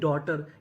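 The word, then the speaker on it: daughter: जैसे डी ए यू जी एच टी ई आर इसे पढ़ेंगे डॉटर। यहां पे जो यूजी एच है ये हमारा साइलेंट रहेगा।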